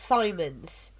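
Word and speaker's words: Symons: first so avarillo yeah mine mine is s-y-m-o-n-s but it's pronounced simon's pronounce my rather simple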